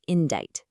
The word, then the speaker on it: indict: Now, this one is a very specific legal term, indict. And notice the pronunciation. That C is totally silent. It sounds like indict.